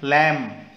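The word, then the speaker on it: lamb: करना है सेम ऐसे इसको पढ़ेंगे हम लम ओके बी साइलेंट है काफ एल साइलेंट न्यू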